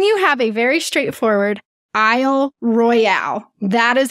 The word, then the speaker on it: Isle Royale: was mispronouncing she goes us michiganders call it Isle Royal like the royal family but it has an